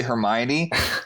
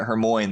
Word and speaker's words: Hermione: oh her name's actually hermione i was like pronouncing it hermoin the first [ __